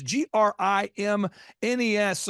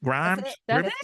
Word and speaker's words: Grimes: your last name it's g r i m so someone's going grimness Grims Grimes you got it the first time if you add s you will pronounce it correctly yeah so think of